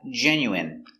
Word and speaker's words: genuine: Next, we have genuine. So remember the ine is pronounced in genuine.